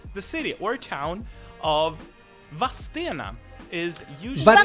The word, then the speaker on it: Vadstena: So they added I between the E and the N. Vadstena. But the regional variant, and thus really also the correct variant, because if you live in the city and you pronounce it as Vadstena, that's really the correct pronunciation.